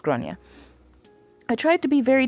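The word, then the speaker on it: Gráinne: Generally pronounced as Groia or thereabouts. Okay, so it is GRA, but sometimes it's pronounced Groia.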